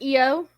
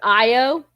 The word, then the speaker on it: Io: i muted it ah eo okay is it pronounced eo yep but like i said in terry pratchett it's pronounced io so i might switch between the two accidentally